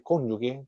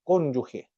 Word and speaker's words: cónyuge: Ahí dice cónyugue, creo que es, pero la palabra correcta es cónyuge, bajo el punto de vista por desde el punto de vista.